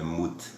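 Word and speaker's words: מוּת: É mut.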